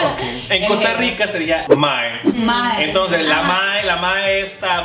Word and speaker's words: mae: No, M-A-E, mae. Mae. Es que digamos, en otros países latinos dicen maje. Eso yo he escuchado de Honduras. Ajá, pero en Costa Rica decimos mae. Mae.